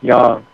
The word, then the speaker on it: Yang: spell Y and G A lot of Americans pronounce it Yang but in China Chinese it's pronounce Yang um the yang tonics are very powerful and